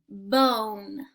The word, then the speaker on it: bone: So all of these are going to have super silent E at the end, which means we are not saying the sound ah, we are going to say the long vowel sound O. So are you ready to sound them out with me? B, O, N, bone. There's a dog bone.